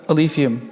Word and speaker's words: Alephium: big topic so let's talk about alium is that how I pronounce it yes that's perfect perfect I'm nailing all